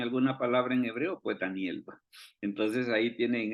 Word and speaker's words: Daniel: Tenemos precisamente que el significado de Daniel es bien interesante y si alguien dice, y mire cómo se dice Daniel en el hebreo, se dice igualito, se dice Daniel.